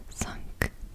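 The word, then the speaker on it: cinq: of there four is cat and it is pronounced like this it's like C okay let's do five up here five is sunk sunk sunk that sunk sunk Sun sunk sunk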